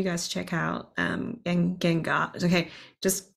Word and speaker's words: Gangar: make sure you guys check out um and Gengar okay just correct me if I said it wrong is Gengar yeah okay yeah all right that sounds embarrassing pronounce it wrong it means uh it means